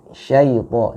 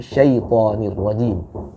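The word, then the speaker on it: الشَّيْطَانِ الرَّجِيمِ: Jadi saya menekankan buat ukhtina fillah Ike Dewi, syaito, jangan syaito, tapi syaitonir rajim.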